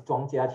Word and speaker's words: Ch'ng Kiah Kiean: you know mandarin okay the pronounce is chongchia the last character means